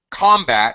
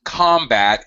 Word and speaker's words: combat: There was combat in the Congo today. We need to combat poverty. This is a commonality in English. First syllable stress when the word is a noun.